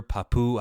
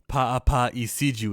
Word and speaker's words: Paapa Essiedu: us to the actor Papu. How do you say his name? I apologize. Paapa Essiedu is how you say his name.